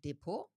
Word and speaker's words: Depot: In Germany, it's called depo. Um in English it's often referred to as a securities account. It's depo spelled like d e p o t.